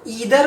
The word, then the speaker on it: either: पहले मैं बता दूं, इसको ईदर और आइदर दोनों तरह से प्रोनाउंस किया जा सकता है। दोनों ही प्रोनाउंसिएशन करेक्ट है। चाहे तो आप इसे ईदर भी पढ़ सकते हैं या आप इसे आइदर भी पढ़ सकते हैं।